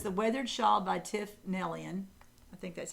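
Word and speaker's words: Neilan: So it's the Weathered Shawl by Tiff Nellian. I think that's how you say her name. Nealon.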